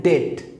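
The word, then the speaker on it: debt: यकीनन डेट, ये बी है, ये प्रोनाउंस नहीं हो रहा, इसको मैं प्रोनाउंस नहीं कर रहा, डेट। तो ये बी जो है ना साइलेंट लेटर है।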